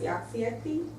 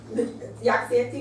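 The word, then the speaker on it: Jaagsiekte: So your common coronaviruses include feline leukemia virus, Rouse sarcoma virus, mouse mammary tumor virus, and this is pronounced Yaxietti virus, type D. Yaxietti virus, which is a type D retrovirus.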